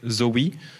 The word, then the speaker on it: XAUI: Vous avez le XAUI à prononcer Zoe, qui est aussi un lien sérialisé, mais sur des lignes CRDS.